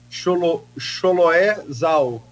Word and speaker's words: Chloé Zhao: Chloé Zhao, né? Espero que a pronúncia seja correta.